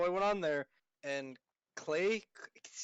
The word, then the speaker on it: Klei: So I went on there and Clay, Klei, Clay. I don't know how it's pronounced. KLEI, Yeah, Clay. Just say Clay.